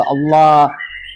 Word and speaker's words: Allah: dalam diartikan tulisan dibaca dibaca pun ala bukan dibaca tetap karena itu kau tulis itu a l h itu kalau di Arab itu alif lam lam ha dou kita membacakan itu Allah gitu loh. Kecuali kau tulis itu a l a ah enggak apa-apa enggak lnya enggak double.